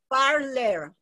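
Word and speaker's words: Parler: you're you're muted how do you say it parlor parlor okay you didn't want to say that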